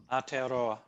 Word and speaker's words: Aotearoa: Can I ask you, to pronounce the Maori name of New Zealand for our student, please? Aotearoa.